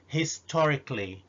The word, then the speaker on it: historically: historically مرة تانية الصفة historic أو historical، يمكن في حلقة قادمة نتكلم على الفرق بين الاثنين، لكن هنا لما حولتها إلى adverb صارت historically.